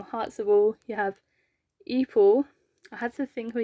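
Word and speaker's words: Epel: I had to think of his name because every time I say his name, I call him. And that is not how you pronounce his name. It's not how they pronounce it in the game either. I don't know where I get from, but his name's Eepal.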